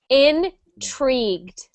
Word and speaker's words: intrigued: We pronounce that like intrigued. Inreat. We pretend that the U is not there.